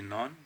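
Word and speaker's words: known: K-N-O-W-N. It is none. K is silent here.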